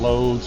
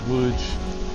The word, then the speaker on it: Łódź: So anyway, we come downtown and we walk down this famous street here in Loads or how it's pronounced here by the locals Woods.